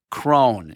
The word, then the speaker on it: Crohn: It's C R O H N. Cone.